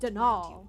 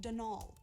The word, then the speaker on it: Donal: Donald mind you it's dnal there's no D at the end so it's pronounced dnal that's the way you're